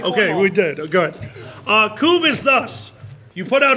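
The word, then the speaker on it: Kubb: Have you guys ever played Coob?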